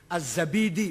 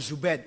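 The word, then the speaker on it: الزبيدي: ada asma asma Hai az-zabidi bukan zubed Sabit apalagi jadi jadi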